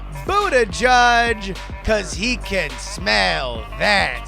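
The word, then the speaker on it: Buttigieg: Donna try but your headliner it's pronounced food a judge cuz he can't smell that smoke with 47%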